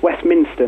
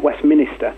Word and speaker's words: Westminster: um which reminds me it's pronounced Westminster not Westminister yeah um and um